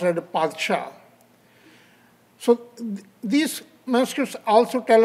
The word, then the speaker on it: Padshah: pronounced like by Farsi, that is in the P sound, and it should be pronounced as a Padshah.